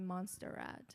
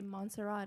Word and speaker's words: Montserrat: People pronounce my name so wrong many times. Even they call me Monsterrat.